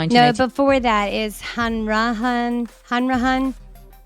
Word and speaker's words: Hanrahan: So, his last name is pronounced Yiannopoulos. And yep, he was born in 198. No, before that is Hanrahan.